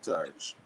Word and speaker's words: Torch: It is Torch as in TORCH, and the Ever Burning Flame.